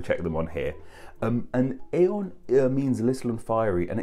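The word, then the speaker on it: Aodhan: This god's name evolved into the Irish Celtic name of Aeon. And once again, this is spelt not as you expect it to be spelt. It's spelt A-O-D-H-A-N.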